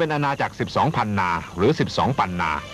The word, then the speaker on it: ปันนา: เรา คำ ว่า 10 ปันนา มา จาก คำ ว่า 12 พันนา เพราะ ชาว ไต รื้อ จะ ออก เสียง พ่อ พาน เป็น ปอ ปลา เช่น เดียว กับ ชาว เหนือ ใน เมือง ไทย ตำนาน ไตลื้อ กล่าว ว่า